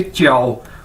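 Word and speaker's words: 叫: आपने पहले भी देखा है कि जे को हम चे के तौर पर इसको प्रोनाउंस करते हैं, यानी जे चाइनीज के अंदर चे के तौर पर प्रोनाउंस किया जाता है, बोला जाता है। तो JIAO ये चाइनीज वर्ड है और इसको कैसे बोलेंगे? च्याओ।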